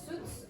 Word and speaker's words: suits: This is suits and your expensive suits? Same thing, yes. Ah, okay. Thank you for noticing, yes. This word S-U-I-T-S is pronounced, if you want, suits. Suits. Suits.